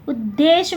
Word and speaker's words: उद्देश्य: हैं, जैसे हम लोग उद्देश्य बोलते हैं, उद्देश्य में द जो है पूरा है और द जो है ध पूरा और द पूरा, उद्देश्य द का उच्चारण जो है बाद में आ रहा है।